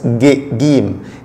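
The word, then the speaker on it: ج: Quand quand il est séparé, jim, jim, mais en Égypte seulement, ça se prononce gim, comme le G en français, gim. Mais à part l'Égypte, il se prononce jim, jim, comme le J.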